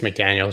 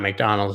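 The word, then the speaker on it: McDaniels: get run dmc earlier i hope it's mcdaniel's not mcdonald's these ron saw daryl's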